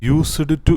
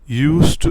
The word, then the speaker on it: used to: യൂസ്ഡ് ടു എന്ന് പറയരുത്, യൂസ് ടു എന്നാണ് പറയേണ്ടത്.